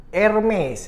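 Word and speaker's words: Hermès: penyakit biayanya yaitu Hermes tapi dibacanya itu tadi saya sudah Tanya pak Google itu irmis ya tapi saya disini akan menyebutnya Hermes saja supaya lebih gampang yang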